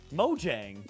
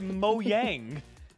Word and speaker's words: Mojang: say it like that say it like an American maang Mojang you said moang maang stop it it really bothers me